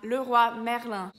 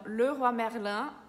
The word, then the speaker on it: Leroy Merlin: Então, Leroy Merlin não é Leroy Merlin. Tem a palavra roi, que tem o Y, mas fica igual a OI, que é som de UA, roi. E tem o IN de Merlin, que fica o som de an, que nem o N, an.